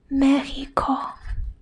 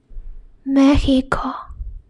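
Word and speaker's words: México: One is X. The other one is H. For example, taxi, taxi, which means taxi, or Mexico, Mexico. So this will be pronounced as H, which means Mexico. So they are pronounced in a different way. Mexico is Spanish, Mexico is English.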